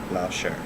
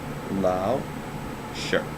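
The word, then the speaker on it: lǎoshī: i'm not okay next word is teacher or laosher and it has two tone marks lao shirt so second tone mark up and down for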